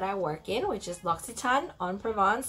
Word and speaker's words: L'Occitane en Provence: a ton on Provence say it with me Lux Etan I thought I should share with y'all how to say it properly because a lot of people come in and tell me all this different way to pronounce locks it's out but